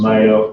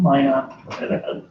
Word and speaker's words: Minot: From Mayo, North Dakota. Is it Mayo? Did I say it wrong? Minot.